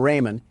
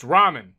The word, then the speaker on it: ramen: Door Dash is on its way to deliver some Raymond, and I don't want to spill any around the pyramid floors. Uh, it it's pronounced ramen.